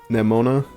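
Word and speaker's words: Nemona: Neimona, I think that's how you say your name. That'd be the That'd be the more Japanese pronunciation, I suppose.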